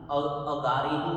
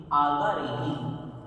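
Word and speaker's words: आगारेहिं: संचालेहिन, सुहु में ही, खेत संचालेहिन, सुहु में ही, दिट्ठी संचालेहिन, एव माई एहिन, एव माई एहिन, आगारेहिन, अगारेहिन नहीं है ये, आगारेहिन।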